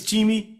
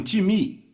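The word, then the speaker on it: τιμή: time então soletra si pm é em português pronunciamos talvez time não se pronuncia dessa forma em grego se pronuncia time repita o time que então eu falei com várias não deveria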